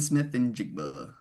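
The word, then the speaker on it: Smith-Njigba: Jackson Smith and Jigba.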